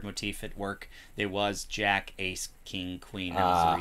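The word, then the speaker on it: JAKQ: not an ungodly reason it's spelled j a k q but to make that sound like an actual word they pronounce it Jacka Den geki Tha which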